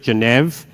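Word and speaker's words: Geneve: protocol we pronounce it genev if you've ever been to Switzerland that's the way a French person with an Australian accent would say the capital not the capital but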